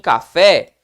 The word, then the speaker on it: café: Então perceba que em café, qual foi a sílaba tônica? Café. A última é uma oxítona, então, não é verdade?